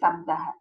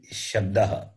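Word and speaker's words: शब्दः: Ari Shabdaha, not Sabdaha. Shabdaha. Ari Shabdaha. This is Ari is different from Hari. That is, Hari is Lord Vishnu, this Ari is enemy. When you say it wrongly, the meaning is different.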